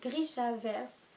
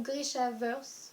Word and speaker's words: Grishaverse: Tous ces livres forment l'univers de Grisha, qui a pour nom le Grishaverse, ou Grishaverse, je pense que c'est ça la prononciation correcte.